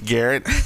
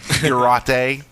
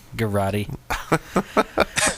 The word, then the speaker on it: garrote: I love bringing podcasts down, talking about the Garrett. No kidding, man. Garrote. What? That's how it's spelled. Garrote.